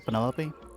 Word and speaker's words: Penelope: is that short for Penelope officially yes but I never can be bothered with all four syllables of it Penelope sounds a little